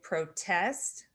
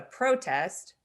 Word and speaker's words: protest: To protest is a verb, but a protest is a noun, and they're spelled exactly the same.